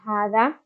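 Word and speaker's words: هٰذَا: We have hadha, and even though it's written as hadha, we pronounce it as hadha, which means this.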